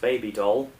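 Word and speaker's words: Bibi Dahl: Yeah, that's the character's name spelling, but it's pronounced baby doll.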